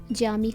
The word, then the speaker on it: Camii: जामी मानी मॉस्क, जिसकी spelling CAMII करके आप पढ़ेंगे उसे जामी कहा जाता है, यानी मॉस्क।